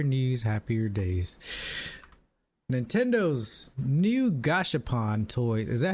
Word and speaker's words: Gashapon: Nintendo's new Gashapon toy. Is that how you say it? Gashapon? Gashapon? I think so. It's like gotcha, but gasha. Gashapon.